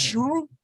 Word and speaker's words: Schul: It's going to be pronounced Schul, which it is in German.